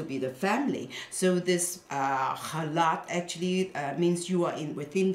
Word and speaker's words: challah: Of course, you know, in English now it's being transcribed as CH, but it is actually pronounced halat.